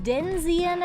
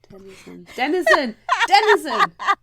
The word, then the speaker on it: denizen: The only cure for a fictional hangover is a Denzian of the Cemetery. Whatever else you said. Denzian. I can see That's it not now. how you say it. Denzian. Denizen.